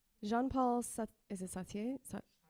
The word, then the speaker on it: Sartre: Jean-Paul, and I can't pronounce this because I don't have a French accent. Jean-Paul, is it Sartre? Sartre, okay, said, "Freedom is what you do with what's been done to you."